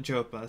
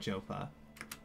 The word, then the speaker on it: Joppa: One of the devs calls it Jopa, so I'm trying to call it Jopa.